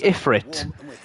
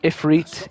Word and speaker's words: Ifrit: the franchise in English so it's clearly iforite if if they wanted it to be pronounced ifriet it would have the double e in it but it doesn't so that bugs me